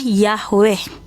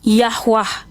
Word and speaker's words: Yahweh: Pelafalannya, pronounsnya adalah Yahweh. Ada yang pelafalannya Yahwah. Itu adalah berdasarkan lidah, ini namanya dialek.